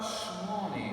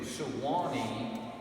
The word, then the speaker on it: Swanee: said, well, how about Swanee River, Stephen? And Stephen Foster said, that's it exactly. So he changed it from Sewanee to Swanee River to the 2 syllables.